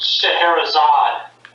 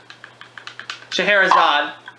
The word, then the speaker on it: Scheherazade: I think it's pronounced Scheherazade. Right. Scheherazade.